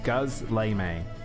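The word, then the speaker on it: gözleme: Gozleme is pronounced Guzleme.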